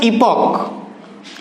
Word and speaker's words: epoch: इपॉक, EPOCH, इपॉक, इसका जो pronunciation है वो है इपॉक। इपॉक यानी कि फर्स्ट लेटर का जो प्रोनाउंसिएशन है वो क्या हो गया, ई से हो गया, इसलिए यहां पर क्या आर्टिकल यूज होगा, एन होगा।